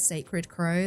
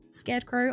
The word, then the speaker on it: Scared Crow: You always think it's funny, people think your name is Sacred Crow. That's the most common mispronunciation I get. In my head, Scared Crow, I say that every single time, Sacred Crow.